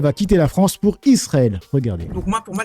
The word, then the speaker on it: Israël: On dit Israël. On dit pas Israël. Pourquoi ? Parce que en français, entre une consonne et une voyelle, on prononce ce on dit pas on danse, on dit on danse. On dit pas on pense, on dit on pense. Donc Israël comme en hébreu qui est une